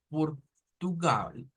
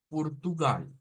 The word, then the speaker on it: Portugal: que cambia es que en vez de una o se dice una u entonces decimos Portugal Portugal Portugal entonces tendríamos las